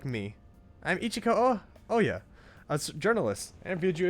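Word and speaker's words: Ohya: Oya is pretty pretty. I don't know why I keep pronouncing her as Ohaya.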